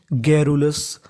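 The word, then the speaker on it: garrulous: और आगे लिखा है हमारा OUS, OUS को पढ़ते हैं अस, यानी आपको इंग्लिश में कहीं पर OUS लिखा मिले तो उसका उच्चारण करना है अस, तो मीनिंग बन गई गैरुलस, गैरुलस।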